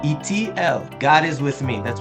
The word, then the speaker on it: Eitiel: By the way, if you're wondering how it's pronounced, if you didn't know it, that's Goldwicht. That's not witched. Goldwicht, and it's Eitiel. Eitiel.